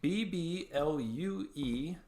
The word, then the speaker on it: BBlue: Design, and that is BBLUE, so it's BBlue, pronounced blue, design. The French pronunciation, by and the way.